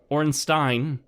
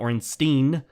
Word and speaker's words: Ornstein: to pronounce it correctly it was not Ornstein you don't drink from a Steen you drink from a Stein Orenstein friends so once